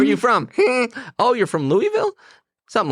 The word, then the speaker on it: Louisville: and I'm going to say it correctly here Louisville you did not say it correctly Louis oh